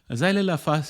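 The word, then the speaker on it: Xylella: and the bacteria which is called xyleda that is spelled as x y l e l l a zailella fastidosa is the full name of the bacteria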